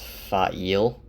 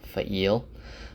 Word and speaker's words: Faile: Also, I looked in the glossary and it's pronounced Faile. It's spelled F-A-I-L-E, Faile. But I'm going to keep calling her Faile because that's how I pronounced it in my head.